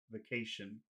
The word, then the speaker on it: vacation: If you're going to pronounce if you're going to try to fully pronounce that syllable, you don't have to. You can say the vacation, but if you're Yeah. going to pronounce it, it has to be they, e, they, vacation.